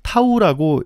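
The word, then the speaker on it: τ: 이렇게 이제 쓰는 것을 뭐라고 읽느냐 Men 타우라 읽어요 그래서 타우라식이 나오고요이 타우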